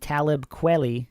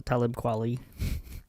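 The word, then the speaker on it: Talib Kweli: Nas Eminem Game and Talibi. Is that how you pronounce it? It's close. Talibquali.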